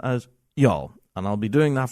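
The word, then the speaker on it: Youghal: Y O U G H A L is pronounced y'all.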